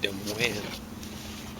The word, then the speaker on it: Des Moines: Des Moines is roughly how they say it, capital of Iowa. They just have trouble pronouncing French.